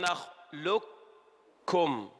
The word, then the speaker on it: نخلقكم: في موضع واحد في سورة المرسلات يقول ربنا تبارك وتعالى ألم نخلقكم. اسمع، نخلقكم. أين القاف؟ أدغمت إدغاما كاملا، ننطق كافا فقط.